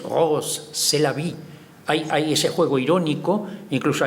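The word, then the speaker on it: Rrose Sélavy: Rose c'est la vie, que suena a inglés, pero si lo pronunciamos en francés, Rose c'est la vie.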